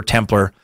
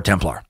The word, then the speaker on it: Templar: Templar, by the way, according to everything I've found, can be pronounced either Templar or Templar. I like Templar.